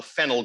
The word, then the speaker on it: phenyl: that's fine uh perfectly acceptable to abbreviate a phenyl group that way the definition of phenyl p